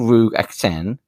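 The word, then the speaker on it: Ruigh Aiteachan: It's called Rug Acten. You spell it Ruigh, new word, Aiteachan.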